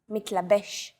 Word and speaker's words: מתלבש: Stress is usually on the last syllable of the word. Avoda, motzetz, mitlabesh.